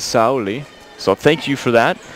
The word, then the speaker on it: Saori: So it seems a consensus I found online anyway that Some Japanese speakers in the U.S. use an Americanized pronunciation, Saori, but it is, in Japan, it is Saori.